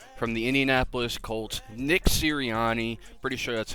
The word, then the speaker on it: Sirianni: They went ahead and hired the offensive coordinator from the Indianapolis Colts, Nick Sirianni. Pretty sure that's how you pronounce it.